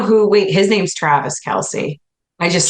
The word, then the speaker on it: Kelce: I did know who wait his name's Travis Kelsey I just said it wrong Kelsey does it